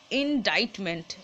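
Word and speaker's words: indictment: ইনডিক্টমেন্ট হয় একটা উচ্চারণ, আর একটা হয় ইনডাইটমেন্ট, ঠিক আছে? এই যে উচ্চারণটা ডাইট হয়, অনেকটা খাবারের ডাইটের মতো, ডাইট করা, ওটা ডায়েট, এটা ডাইট। ইনডাইটমেন্ট বা ইনডিক্টমেন্ট মানে কি, কোনো অভিযোগ বা লিখিত অভিযোগ, এরকম।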